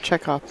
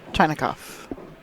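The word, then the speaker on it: Chinakhov: Yep, Ruslan Chekhov, and not Chinakov. His name is Chinakov. Well, maybe it's pronounced Chekhov.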